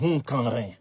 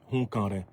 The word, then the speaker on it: Hunkanrin: n'avais pas connaissance, cette personnalité que je ne connaissais pas, c'est un certain monsieur Louis Hunkanrin.